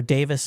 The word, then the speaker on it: Davies: It's like, who wouldn't have known it was the little Davies boys, or Davis as it's pronounced in England, performing there at the pub?